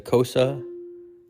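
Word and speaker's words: Xhosa: it is sung in the kosa language that's spelled x h oosa The Click song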